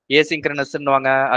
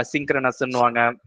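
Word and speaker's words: asynchronous: ஏசிங்க்ரனஸ்ன்னுவாங்க, அசிங்க்ரனஸ்ன்னுவாங்க, however you pronounce it.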